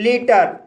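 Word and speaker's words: litre: इसी तरह लीटर, लीटर शब्द के अंत में आर ई आया है और यहाँ पर आर ई का उच्चारण रा होगा इसलिए इसे लीटर पढ़ा जाता है।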